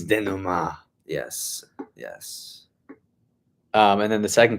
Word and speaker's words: denouement: Yeah, I've been saying denouement. It's denouement.